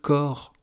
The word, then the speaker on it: corps: Et donc, ces fonctionnaires, ces personnes qui étaient chargées d'écrire, au lieu d'écrire corps, C-O-R, eh bien, ils ont écrit corps, C-O-R-P-S, pour rendre hommage, pour rappeler l'origine du mot qui est corpus.